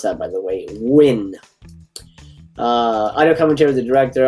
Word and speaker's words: Nguyen: That's how you pronounce that, by the way. Nguyen.